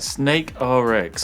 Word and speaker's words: SNKRX: Snake RX. But it's spelled SNKRX. SNKRX.